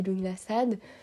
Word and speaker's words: Lughnasadh: de Luc nassad alors il y a plusieurs manières de prononcer ce sabbat voilà moi je dis lingassad habituez-vous à ce à cette prononciation mais sachez queil y a vraiment beaucoup plus de d'autres manières de de dire ce ce sabbat soit on